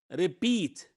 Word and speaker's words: repeat: the word okay here the word the word repeat repeat repeat it's a verb because the syllable here the stress is in the second